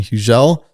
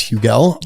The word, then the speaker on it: Hugel: And I had gone there to see an artist named Huel or Hugel. H U G- Lel, proper pronunciation. Hugeelle, many know him as Hugel.